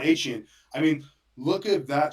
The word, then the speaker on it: Achane: I believe you had him on fantasy, Devin Devon Osh, Achan? Devon Achane.